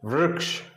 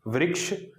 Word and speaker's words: वृक्ष: तो देखिए, वृक्ष, कृष्ण, वृक्ष, कृष्ण, ये इसका सही उच्चारण है, ना कि वृक्ष, कृष्ण।